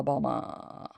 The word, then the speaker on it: bomber: So we don't pronounce R's at the end of words because that's redundant. We don't need to do that.